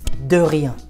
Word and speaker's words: de rien: In French it's de rien. De rien. Not de Number 2, like deux, it's de.